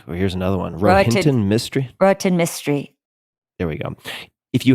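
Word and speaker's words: Rohinton Mistry: I recognize, but I have no idea how to pronounce. And then A Fine Balance by, here's another one, Rohinton Mystery. Rohinton Mystery.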